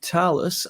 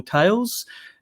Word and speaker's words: Thales: So let me just briefly introduce you to Thales. Unlike Microsoft and Dell, we are not household names. So I do appreciate that. It is pronounced Thales, by the way, as opposed to Thales or Tails.